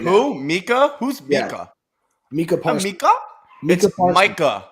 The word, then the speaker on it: Micah: zappy is that true it's Micah Parsons it's dude it was Mika Parsons his entire career at Penn State was positive it's Micah dude but they said Tua